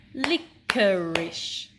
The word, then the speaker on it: licorice: Let's clap the syllables in the word licorice. Licorice. And again, licorice. 3 syllables.